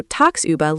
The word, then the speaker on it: tagsüber: Next German word is tagsüber. Pronunciation: tags, über.